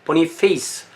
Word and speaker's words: 보니페이스: 자, 그래서 보니파키우스, 이게 발음이 영어냐 뭐 라틴어냐 뭐 이탈리아냐 다 다른데 영어로 발음할 때는 이게 보니페이스라고 그래요. 보니페이스.